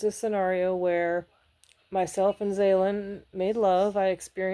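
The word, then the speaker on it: Xaelan: I had AI help me pick a name and it's pronounced Zalen.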